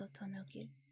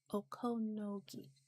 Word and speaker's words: Okonogi: What's your opinion about this, Otonogi? Okonogi. Yeah, that's how you say it.